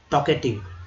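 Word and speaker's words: talkative: अब देखिए यहाँ जो L है ये साइलेंट है यहाँ पर, ठीक है, साइलेंट है, याद रखिएगा, यहाँ पे L जो है ये साइलेंट है, तो टॉक होता है, टॉक।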